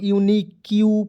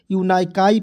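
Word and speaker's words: unique: ई यूनिक ठीक है यूकाई नहीं पढ़ेंगे बहुत लोग यून क्यू पढ़ लेता है यूनाईकाई पढ़ लेता है दोस्तों यूनिक पढ़ेंगे यू एन आई क्यू ई यूनिक ठीक है यू आर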